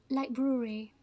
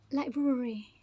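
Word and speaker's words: library: it so what is the right way to pronounce it Li breary Li breur Li Brewery Li Brewery libr and this one February February February okay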